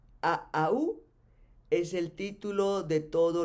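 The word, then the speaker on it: Ahau: Y Aau es el título de todos los jefes, que se escribe A-H-A-U, A-A-U.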